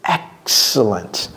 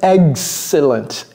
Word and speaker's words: excellent: Il faut dire it's excellent. Et ça, je vais vous apprendre une astuce pour vous rappeler la prononciation de ça. Dites, ça c'est l'œuf, n'est-ce pas? Ajoutez un S, excellent, excellent.